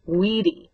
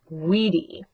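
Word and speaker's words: vīdī: Note that the stem vowel that I wid is short in the first two principal parts but then it becomes a long i in the third and the fourth principal parts wedi and whisesis.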